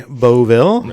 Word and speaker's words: Baultvel: And me just choke up and go excuse me, it's Baultvel.